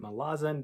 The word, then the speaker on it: Malazan: the malazan trilogy and you can blame andy um for making me pronounce it malazan because i've been listening to so many of his videos that i'm just like might as well pronounce it correctly third book in the